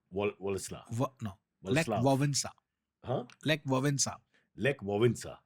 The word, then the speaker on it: Wałęsa: No, it's not Walesa. It's pronounced Władysław. No, Lech Wałęsa.